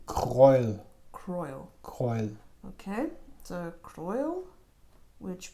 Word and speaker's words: Kreul: We got this one, I'm not sure how to pronounce the name. Kreul.